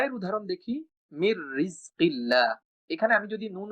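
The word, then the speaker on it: مِن رِّزْقِ اللَّهِ: যদি নুন উচ্চারণ করি মিন রিজকিল্লাহ, এটা কিন্তু অশুদ্ধ উচ্চারণ হবে, বরং আমাকে বলতে হবে এই নুনটা র এর সাথে যুক্ত হয়ে যাবে এবং র দুইবার উচ্চারণ করতে হবে, মির রিজকিল্লাহ।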